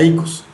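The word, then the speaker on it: οἶκος: salúdenla recordemos en griego la casa es icos se escribe como El yogurt oicos pero se pronuncia Ecos pero la casa no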